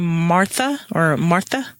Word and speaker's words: Marthe: They pronounce her name Martha. In the TV show. So I'm used to saying Marth. So if audience, you get confused, just understand I mean the same person, Marth. And Deb has advised that both pronunciations are correct.